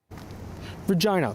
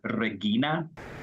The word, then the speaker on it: Regina: In classical Latin, the word was originally pronounced as Regina. Languages change over time according to experts, adapting and transforming. So while the spelling of Regina has remained the same, the pronunciation has continued to change. Regina, the Latin pronunciation, is rarely used anymore. Instead, as a result of a process called lenition, the pronunciation was modified to Regina, which you can still find in languages such as French.